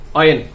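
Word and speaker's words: when: হবে, এটা হবে ওয়ার্ড, অর্থাৎ হটা উচ্চারণ হবে না, এটা উচ্চারণ হবে না, ডিরেক্টলি আপনার উচ্চারণ হবে ওয়াট। আর এটা অয়ার, এটা হচ্ছে ওয়াই, এটা হচ্ছে উইচ, এটা হচ্ছে অয়েন। এইভাবে আপনাদেরকে উচ্চারণ করতে হবে।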